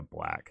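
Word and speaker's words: 6LACK: by you yeah it's it's spelled 6 l c k is how he spells his name but he goes by black cool and yeah that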